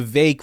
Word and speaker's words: Vivek: V vake rhymes with cake I will pronounce that